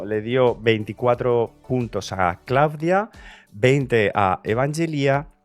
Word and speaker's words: Klavdia: Ah, no, perdón, lo estoy pronunciando mal, Claudia, que me lo corrigieron el otro día, es con acento en la I, es Claudia.